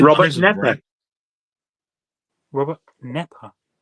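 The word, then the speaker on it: Knepper: Robert Nepper. Spelled with a K.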